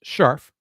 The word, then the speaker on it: Scherf: Basketball, Miss Dana Scharf, spelled Scherf, but pronounced Scharf.